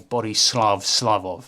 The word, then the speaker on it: Borislav Slavov: This is the Harpies song from Baldur's Gate 3 by Borislav Slavov. That's their actual pronunciation, but enjoy.